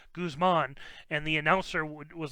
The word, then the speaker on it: Guzman: be wrong there and i've always heard it pronounced guzman not Gusman like does like guzzoline something but goos Guzman yeah so I told Matt that like Matt its Guzman not Gusman there's no way to Kussman there can't be